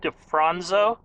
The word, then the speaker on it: DeFronzo: talking to defronzo is that how you pronounce it defronso yeah that's how you pronounce it correctly and